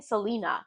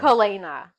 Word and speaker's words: Kalena: We've been saying Cole instead of Kale because I can't get over Kale. Mm-hmm, Selena, I'm trying to still fix my own right. pronunciation in my head. So I was saying Selena because that's what makes sense. Mm, no, Kalena.